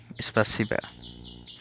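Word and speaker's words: спасибо: সি আই বি এসপারসিবা এটা কিন্তু ও কিন্তু উচ্চারণ হবে এ সপারসিবা দয়া করে আপনাকে স্বাগতম এটা হবে এটা হবে প্রাসু প্রাসনিয়া সরি দয়া করে আপনাকে স্বাগতম।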